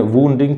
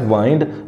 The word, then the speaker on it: wind: New years day, killing at least 15 people and वुंडिंग 30।